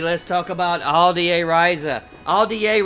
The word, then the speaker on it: Atelier: Aldier Ryza, that's how it's pronounced, not Altier Ryza.